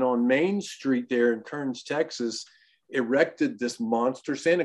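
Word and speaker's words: Kerens: of those small towns is k-e-r-e-n-s but they pronounce it kearns of course kearns texas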